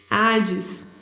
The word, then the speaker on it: Hades: Zeus, Poseidon e Hades, né? Hades, pronúncia meio inglesada, nada a ver. Hades.